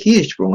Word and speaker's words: Hirschsprung: Miren cómo se escribe Hirschsprung, ¿ah? Hay una S antes y después de la CH.